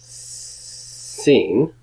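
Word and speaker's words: שׂין: But when you think about how to pronounce this, this is Sin. It makes you think of the word sin, and if politically you were in sin, you would be on the left.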